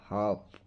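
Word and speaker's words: half: ಶಾಂತವಾಗಿರು ಕಾಮ್ ಕಾಮ್ ಅರ್ಧ ಹಾಫ್ ಇಲ್ಲಿ ಸ್ನೇಹಿತರೆ ನೋಡಿ ಬಹಳ ಇಂಪಾರ್ಟೆಂಟ್ ಎಲ್ ಸೈಲೆಂಟ್ ಆಗ್ತದೆ ಅದಕ್ಕೆ ಬ್ರಾಕೆಟ್ ಅಲ್ಲಿ ಕನ್ನಡದಲ್ಲಿ ಕೂಡ ಹಾಕಿದೀನಿ ಯಾವ ರೀತಿ ಉಚ್ಚಾರಣೆ ಮಾಡಬೇಕು ಅಂತ ಹೇಳಿ ನಡೆದಾಡು ವಾಕ್ ವಾಕ್ ಜನಸಮೂಹ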